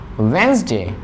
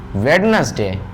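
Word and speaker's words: Wednesday: वेंसडे, वी डू not pronounce वेडनेसडे, वेंसडे, always say वेंसडे।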